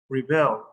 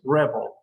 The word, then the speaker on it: rebel: This one right here is pronounced rebel. Why is Aladdin going to rebel against his father's teachings? And in the other one, that is exactly spelled in that way, the intonation or the stress syllable is not at the end, it's at the beginning. It's rebel.